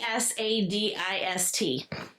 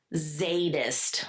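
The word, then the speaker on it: Zsadist: Z S A D I S T. How? Sadist. This is pronounced Zadist with a Z. The S is silent.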